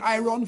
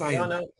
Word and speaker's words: iron: I've been saying I've been saying I run for 30 years. I said, "Well, it's not. It's pronounced iron."